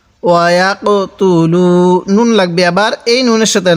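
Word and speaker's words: وَيَقْتُلُونَ: তু, ওয়া ইয়াক তু, লাম ওয়াও পেশ লু, ওয়া ইয়াক তু লু। নুন লাগবে আবার এই নুনের সাথে নান, ওয়া ইয়াক তু লু নান, নুন জবর না।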